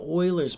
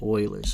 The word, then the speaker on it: Euler: they were talking about euler's method you might pronounce it euler's honestly euler's makes more sense but apparently all these mathematicians call it oilers so we're going to say oilers all right so they